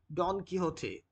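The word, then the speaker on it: Don Quixote: So the main character in that novel was Don Kiote. Uh it is pronounced like this.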